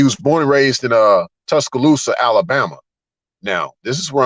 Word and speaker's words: Tuscaloosa: Louis, so you know we kind of we pronounce names a little off sometimes, but nevertheless, if you break down the word Tuscaloosa and the Choctaw word is Tuska Lusa.